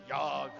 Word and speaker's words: Jagd: Basically, how it's a German word that means the hunt, but it's spelled as Jagd. Jagd. Yog.